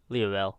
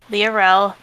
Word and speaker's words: Lael: so bad with names how do you say it leel leel there we go leel kind of like a